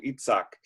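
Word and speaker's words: Yitzhak: Sarah's child is born eat sack or Isaac isn't there a musician is he a violinist Itzhak Perlman yes his violinist right yep so there's his good hebrew pronunciation each sock and then at the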